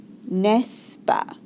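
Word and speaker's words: n'est-ce pas: the sentence you add nesa nesa it's kind of pronounced NES he studies every night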